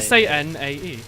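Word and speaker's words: Sanae: is in Touhou tear you spell it exactly how it sounds a bit here Sano a a sa nae it's just five letters that's the house salad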